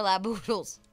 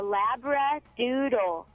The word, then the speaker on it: Labradoodle: This was not only their income, but it was their life, 54 laboodles.